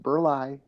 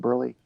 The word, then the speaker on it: Burleigh: in Milwaukee it is pronounced burlai, and everywhere else in the state of Wisconsin, you give that word to a newscaster, for example, and they'll pronounce it burley.